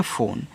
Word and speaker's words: phone: PHONE, इसे पढ़ेंगे फ़ोन। तो PH से आपका फ़ा, O से O की मात्रा फो, N से आपका ना, लास्ट में जो ई है इसका उच्चारण हम नहीं करते हैं, फ़ोन हो गया।